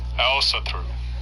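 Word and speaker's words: Ásatrú: of different guises is Aosatru, to use the modern Icelandic pronunciation of that word, which seems to be most common among practitioners of the religion.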